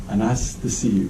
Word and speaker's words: Anastasiou: A-N-A-S-T-A-S-I-O-U. And it's pronounced as if you're saying, "How nice to see you." Yeah, that's what I... Anastasiou.